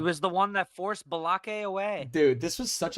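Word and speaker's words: Baalke: you say his name it's like bake but it's spelled b a a l k bake I I call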